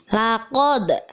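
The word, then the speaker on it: لقد: ingsana Fi ahsani taqwiim laqod perhatikan huruf Dal Disini Hai harus mantul membacanya karena termasuk bacaan Qolqolah Sugro holaknal ingsa ada nun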